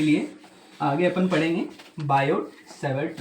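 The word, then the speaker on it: Biot-Savart: ये जानने के लिए आगे अपन पढ़ेंगे बायोसेवर्ट लॉ। बायोसेवर्ट में जो टी है वो साइलेंट है।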